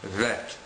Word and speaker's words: vet: sound in English B when the letter bet is without AES without the little dot inside of it then the letter bet is pronounced vet this is extremely similar